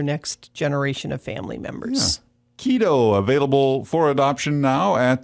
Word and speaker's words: Quito: are the right home keto is his name spelled with a q and that's the capital